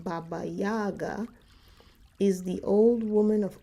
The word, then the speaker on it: Baba Yaga: To the Slavic peoples of Eastern Europe, Baba Yaga, pronounced Baba Yaga, is the old woman of autumn whose spirit lived in the last kernel of harvested grain.